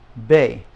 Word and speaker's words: be: Uno ah numero dos Bae now it's just like the word Bay down by the ocean the bay okay and